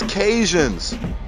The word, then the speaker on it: Cajun: descendants are caught Acadians also later known as Cajuns the English mispronunciation of Kady ins after resettlement in Louisiana so from the area